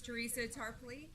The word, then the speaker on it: Teresa Tarpley: producer and today our special guest speaker is Teresa Tarpley I pronounced it right I know I just asked